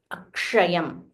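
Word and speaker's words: अक्षयम्: Again, stress. And this sh is a combination. It contains the Murdanya sh. So k plus ksha. So it is k plus sh. It becomes ksha. So you have to roll your tongue and say Akshayam.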